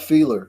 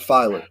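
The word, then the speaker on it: Feiler: uh they signed matt feeler as well uh so i found out i'm sorry matt filer it's pronounced fire yeah he can play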